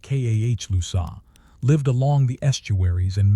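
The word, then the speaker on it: Calusa: The Kousa, pronounced Kah Lusa, lived along the estuaries and mangrove flats of Southwest Florida from the 10,000 islands north to Charlotte Harbor.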